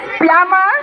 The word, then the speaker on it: plumber: It is plumber and B is silent.